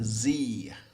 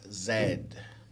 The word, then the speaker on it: Z: used more okay americans would usually call that a z and british people would usually call that zed and actually that is